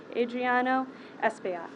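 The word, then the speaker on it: Adriano Espaillat: thank you i will be followed by congressman adriano espeona she pronounced my name right thank you captain and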